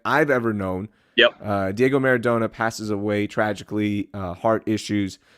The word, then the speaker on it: Maradona: I got my Maradona jersey on right now. I don't like the way you pronounce that. Maradona.